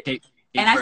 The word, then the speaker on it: Cape Verde: Cape Verde or Cape Verde? Cape Verde.